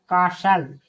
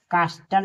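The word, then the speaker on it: castle: यहां T silent है सी ए एस टी एल ई कासल यहां कास्टल नहीं कासल पढ़ेंगे यहां टी साइलेंट है एफ ए एस टी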